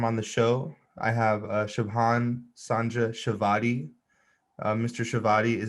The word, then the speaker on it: Shubham: Shubham. Yes. But in general, it's great. Wonderful. I am doing my best to pronounce names correctly, but I butcher them quite often on the show.